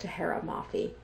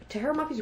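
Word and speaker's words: Tahereh Mafi: Less excited for this Woven Kingdom by, I think it's pronounced Tahara Mafi.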